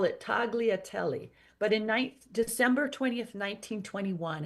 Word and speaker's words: tagliatelle: He would have pronounced it tagliatelle. Probably I pronounced that incorrectly. Sorry, Pierre. We call it tagliatelle.